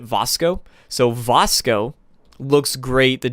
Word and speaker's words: Vasco: Vasco not I think a lot of people say Vasco Todd Howard pronounces it Vasco so Vasco looks great